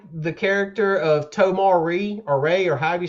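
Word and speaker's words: Tomar-Re: Um I like the character of Tomari or Reay or however you say his name. Tomar Ray.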